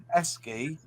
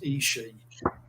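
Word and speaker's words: ESCI: Because I know it as Esky. Right. You call it something else. I used to call it Isai, but I had an Italian sub me, and he told me it's pronounced Ishi.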